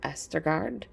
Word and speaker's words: Østergaard: I recently learned I was saying the name wrong. It's Østergaard.